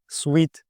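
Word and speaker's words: suite: слова Master bedroom або Sweet і Зверніть увагу на вимову саме Sweet а не чи ще якось і чому даємо тут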